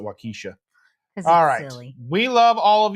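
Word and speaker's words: Waukesha: wakisha NOA no wakaa we pronounce it wakisha silly we love all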